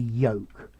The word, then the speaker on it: yolk: right word is the yolk notice this is pronounced like joke and folk the yolk yup so chilly's gone for